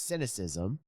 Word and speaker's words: cynicism: It's cynicism.